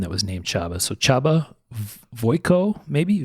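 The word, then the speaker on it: Csaba: was named Chaba so Chaba voo maybe v o j KO o so it's spelled CS a a ba which I believe is pronounced chabba and v o j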